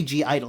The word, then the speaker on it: (G)I-DLE: again if you're new the g is silent so it's on gi i mean you can say g idle if you really want